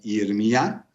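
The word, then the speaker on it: ירמיה: Es muy curioso poder hablar también del nombre de Jeremías, pronunciado en hebreo como Yirmiyá, el cual, aunque si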